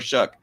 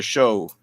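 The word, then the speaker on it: Shough: Tyler Tyler Shuck. I want to say Tyler Show for some reason because that's the way it's spelled.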